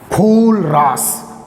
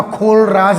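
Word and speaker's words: Kohlrausch: Important कर दो, कोलरास, कोलरास पढ़ना, खोलराज नहीं पढ़ना इसको। कौन सा राज खोलने वाले हो आप? कोलरास, या इसको साइलेंट है, कोलरास।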